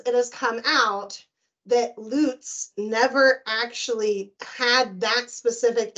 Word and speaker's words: Luz: I think it's Lutz, but that's like the German pronunciation. Okay, we'll say Lutz. I will get that right. If you want to anglicize it, it's Lutz, but I don't know.